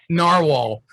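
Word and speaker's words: Nahvalur: guys that doesn't spill that does not spell narwhal they still pronounce it narwhal because apparently they had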